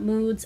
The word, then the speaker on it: MOODS: And I'm so sorry that last time in my video I said mods, not moods.